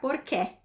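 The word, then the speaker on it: porqué: Então, por mais que aquele que esteja acentuado, eu não vou pronunciar porquê, é porquê, tá? Com o somzinho do E fechadinho.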